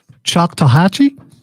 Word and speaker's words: Choctawhatchee: Bonzo, in the chat box on the live stream, right there, do me a favor, pronounce that word for me the best you can. Take a shot at that. Choctawhatchee?